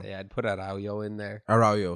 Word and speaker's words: Araujo: I'll put Aranjo for from Barca. I'd put Araujo in there. Araujo, sorry, I've been saying it wrong. I don't even know if I'm saying it right.